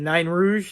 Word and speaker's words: Nain Rouge: about the now the NYE Rouge the nine Rouge that's how they say it like a little impish